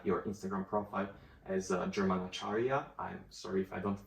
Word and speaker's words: Acharya: that you have your Instagram profile as German Acharya. I'm sorry if I don't pronounce it correctly. No, you pronounce it really correctly. Perfect. It's German Acharya.